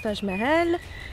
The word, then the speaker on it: Taj Mahal: Alors, Taj Mahal, déjà ça se prononce Taj Mahal et...